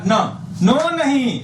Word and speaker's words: न: त थ द ध न। नो नहीं, न न न न न, जैसे नहीं इसको पढ़ते हैं न न न, आपको साइलेंट कर दीजिए। न न न न न, खाइएगा न, पीजिएगा न, खाइएगा न, पीजिएगा न।